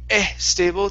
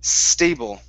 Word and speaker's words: stable: okay one more time instead of saying e stable take off the E it's stable it's stable okay all right nice